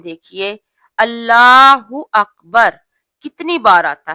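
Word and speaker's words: الله أكبر: नमाज में अल्लाहू अकबर ये वर्ड काफी यूज होता है, लेकिन इसके तलफ्फुज में हम गलती करते हैं। और वो गलती क्या है, गौर कीजिएगा। तकरीबन अक्सर मेरी बहनें ये गलती करती हैं। रुकू में जाते हुए हम लोग क्या बोलते हैं, अल्लाह अकबर। कुछ मेरी बहनें कहती हैं अल्लाह अकबर, अल्लाह अकबर। ये गलत है। कुछ लोग बोलते हैं अल्लाह अकबर, ये भी गलत है।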